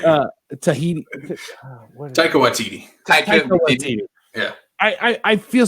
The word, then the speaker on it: Taika Waititi: I mean, we're seeing a lot of comedy directors like Edgar Wright, Tahiti Watiti.